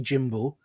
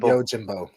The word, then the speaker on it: Yojimbo: So, how do you pronounce it? Usagi Yojimbo. There's no O in that. Anyway, Usagi Yojimbo.